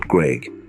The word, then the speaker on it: Graiguenamanagh: Graiguenamanagh, and yes, it's a mouthful, but the locals just call it Graig.